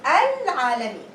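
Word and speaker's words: العالمين: If I am starting the word, if I'm starting Al-Alamin, I'm going to pronounce it. It's going to be Al-Alamin.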